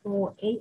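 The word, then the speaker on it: 投影: Ini bacanya Toei atau proyeksi.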